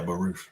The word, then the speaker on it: Baruch: Yeah, Baruch.